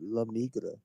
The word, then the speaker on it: La Migra: Did I say it wrong? What happened? Yeah, you definitely did because it's La Migra.